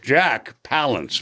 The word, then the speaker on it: Palance: Jack Palance, by the way, is the way he pronounces it.